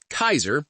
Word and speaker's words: Caesar: He manages to clarify that their origin, Kaiser, that's how they pronounce Caesar, is dead, and that might just be the founder, Edward Sallow himself.